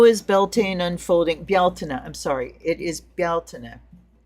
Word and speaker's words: Beltane: couple different, but uh Beltaine has always been Beltaine, but I'm hearing um Gaelic and Irish speakers saying Baltina, so I'm retraining myself to pronounce it correctly.